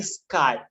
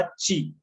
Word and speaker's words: chi: याची स्पेलिंग आहे बघा, ची. याची स्पेलिंग काय आहे, CHI. तुम्ही याला ची म्हणू शकता, बट सगळेच लोक स्काय म्हणतात, त्याच्यामुळे तुम्ही याला स्काय म्हणा, कारण की ऑल ओव्हर वर्ल्ड मध्ये याला स्काय म्हणतात.